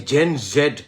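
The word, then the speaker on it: Gen Z: deep state গুলির যে জেন জেড একটা শুরু হইছে না জেনজি আমেরিকান উচ্চারণ উচ্চারণটা দেখেন না জেনজি কয় জেড কয় না জেনজেড হইতেছে ব্রিটিশ জি হল আমেরিকান জেনজি এই জেনজির জায়গায়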